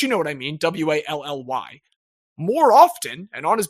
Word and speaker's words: Wali: know what I mean, W-A-L-L-Y. More often, and on his basketball reference page, it is spelled W-A-L-I. Still pronounced Wally, totally the same thing, so regardless of what